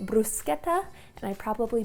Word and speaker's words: bruschetta: In America we just call this "brew-shetta", but in Italy they call it "brew-sket-ta" and I probably butchered that yet again.